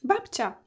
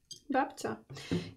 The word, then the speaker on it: Babcia: Babcia. Babcia.